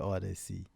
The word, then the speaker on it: Odyccy: I'll see you guys on another I'll see you guys on another episode of the breakdown with DJ Odyccy.